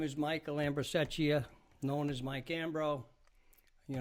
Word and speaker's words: Michael Ambrosecchia: Can't pronounce the name. I'm not going to try it. My name is Michael Ambrosecchia, known as Mike Ambro.